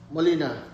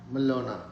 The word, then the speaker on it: Malona: How about Molina? Am I still close to pronouncing your name right, Beta? No? Yeah, it's Malona. Malona.